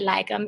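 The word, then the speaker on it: lagom: okay I'm have to if you just think about you know the OM m in the word lagum it's easier to um resonate and okay I need more lagum I think so prayer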